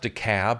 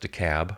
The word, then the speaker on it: DeKalb: Both the Democrats were behind, but all the news people kept talking about DeKalb County, which they pronounced DeKalb. It's spelled DeKalb, and I guess it's pronounced DeKalb.